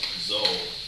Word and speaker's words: Zoe: She's like, my name's Zoe, rhymes with Mo.